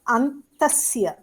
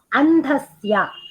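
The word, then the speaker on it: अन्धस्य: Then what is antasya? Andhasya.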